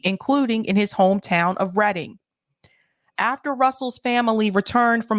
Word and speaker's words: Reading: Bill Russell's reading home by the way it's pronounced reading even though the spelling is reading it's pronounced reading here in Massachusetts leaving racial epithets in their